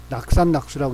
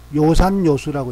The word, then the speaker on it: 요산요수: 옆길로 세는 것 같지만 낙산낙수로 읽기 쉬운 그런 한자가 있는데 낙자가 즐거울 낙자인데 좋아할 요로도 쓰여. 요. 그래서 낙산낙수라고 읽으면 안 돼. 산을 좋아하고 물을 좋아하는 거니까 요산요수라고 읽어야 돼.